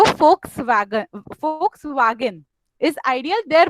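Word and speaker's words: Volkswagen: यस, अब इसमें वी होता है लेकिन उसका प्रोनाउंसिएशन कोई वोक्सवैगन नहीं करता, फोक्सवैगन करता है।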